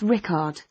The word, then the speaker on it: Rickard: name festival it's rickard is that rik it's spelled with a c not a k oh okay and your date of birth please it's the 8th of october 1975.